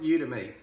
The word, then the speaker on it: Udimi: A few people pronounce it Udemy or Udemy or Udemy or whatever it is. I call it Udemy. Okay, so I will be just calling it Udemy. So it's UDIMI, and that is a solo ad service provider.